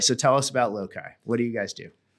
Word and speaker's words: Loci: It's also just a name that nobody pronounces properly. It's Loci, Loci, Loci.